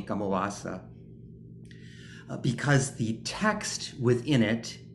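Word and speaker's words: kammavācā: It's given here the title Kamawa-sa in Pali, and in the Burmese pronunciation of the Pali, Kamawa-sa, because the text within it is a Kamawa-sa text.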